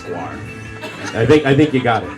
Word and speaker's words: Gwar: I don't even know how to pronounce Gwar. I think you got it. Yeah, oh, okay. For a long time I thought it was GWR or Yeah. GWAR. It's like more like that band Wasp, WASAP.